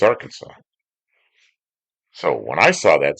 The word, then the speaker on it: Arkansas: Because if you're in Witchah, Kansas, there's a street, a big street, and they call it looks like Arkansas, but they call it our Kansas. But when you're in Arkansas, it looks like our Kansas, but it's Arkansas.